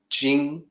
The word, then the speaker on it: Ching: this system mandated that when you use CHING without an apostrophe, it's supposed to sound like J. So what you look at and say Ching is actually Jing, J-I-N-G sound in the Wade-Giles system, but nobody knows that.